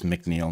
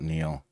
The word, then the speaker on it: McNeel: It's McNeel not Neil.